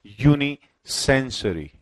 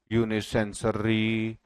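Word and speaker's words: unisensory: जैसे कि सपोज करिए ये वर्ड है यूनिसेंसरी। ठीक है, और कुछ बच्चे इसको पढ़ रहे हैं यूनिसेंसरी या यूनिसेंसर, है ना, प्रोनाउंसिएशन ढंग से नहीं कर पा रहे। बट इसकी करेक्ट प्रोनाउंसिएशन क्या होगी, यूनिसेंसुरी, यूनिसेंसुरी।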